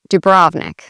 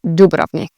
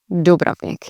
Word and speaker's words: Dubrovnik: Some of my family and friends, they say Dubrovnik because that's how you would read that in English. In Croatian, you put the emphasis on the beginning of the word, not the middle. So you'd say Dubrovnik. Dubrovnik.